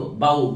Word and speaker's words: bow: ज्यावेळेला बाऊ असा आपण उच्चार करतो, जसं इथे राऊ केलाय तसंच इथे बाऊ केलाय. स्पेलिंग मध्ये बघा आरच्या ठिकाणी फक्त इकडे बी आले, त्यामुळे उच्चार हा त्याच्यासारखाच आहे.